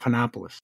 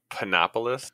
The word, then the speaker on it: Panopoulos: o u l oos it might be a different way to pronounce it but I got pinopolis like pineis yeah is that what you